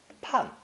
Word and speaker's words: 判: Pronounced 4th tone. Pan, pan.